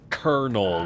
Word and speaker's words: colonel: can't tell you why kernel spelled c o l o n e l is pronounced kernel with a hard k sound a ke sound it is it has